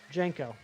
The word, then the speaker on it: JNCO: Is that how it's pronounced? Yeah, JNCO. Jenko.